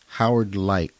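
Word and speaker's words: Howard Leight: But these headphones were from Howard Light, and that's spelled Leight.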